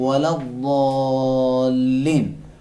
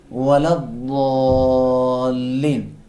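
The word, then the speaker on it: ولا الضالين: زبان کی سائیڈ کو، زبان کی کروٹ کو سائیڈ کے دانتوں سے لگائیں گے. کس طرح ادا کریں گے؟ غیر المغضوب علیہم ولا الضالین. ولا الضالین.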